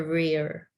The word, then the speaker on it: rear: Rear The rear.